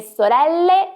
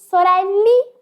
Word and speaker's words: sorelle: seguinte frase le Mie sorelle sono Belle pronuncie muito claramente as letras finais pois elas são importantíssimas pois soreli não existe e Bell é usado